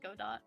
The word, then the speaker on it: Godot: It's spelled Godot.